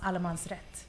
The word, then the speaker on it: Allmansrätt: It's pronounced Allmansrätt.